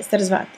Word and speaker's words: Sarasvati: That's how you say it, Sarasvati.